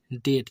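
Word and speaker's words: date: तो आप लोग इसे पढ़ेंगे डेट। यहां बस का कोई रोल नहीं। ई साइलेंट में चला गया।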